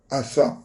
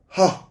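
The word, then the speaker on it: חשב: Y el verbo contar en hebreo se translitera asap, pero se pronuncia ha-shap.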